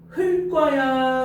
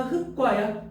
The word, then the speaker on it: 흙과: 그리고 흑과 보여? 흙과야 흑과야? 흑과야 흑과. 됐니? 흙과 이러면 안 돼요.